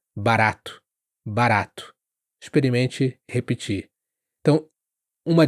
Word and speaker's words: barato: Assim, o barato também não é barato, é barato de forma forte, esse R mais duro, como a gente diz, quase como um D rápido no inglês, barato.